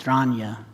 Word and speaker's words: Dragna: it's actually pronounced in saranya rhymes with lasagna and so there are